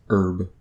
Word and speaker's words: herb: it's like regional but I've always heard it pronounced with a silent H it's herb not a herb in